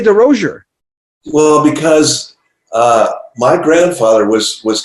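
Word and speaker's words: Derosier: By the way, I've been saying your name wrong my entire life, so sorry about that. I finally watching interviews and I'm going, oh, I had a friend named DeRozier, and that's how he said it. You're saying it right. Well, how come people say DeRozier?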